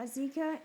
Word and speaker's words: Azekah: How to pronounce Azekah. Azekah and Azekah.